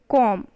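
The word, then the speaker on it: comb: right b is what b is your silent and only the pronunciation is coming off calm com but spelling is is with including b right now next what it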